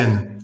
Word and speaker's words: Sinn: pronounce that zen zen so the s or a zed almost like a zed right so as far as I know with my limited knowledge of German an S followed by a vowel is sort of pronounce sort of like a muted Z okay so Zen has